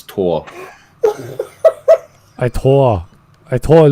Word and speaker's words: Thor: say that that uh in german you you pronounce it as tor i tore i thought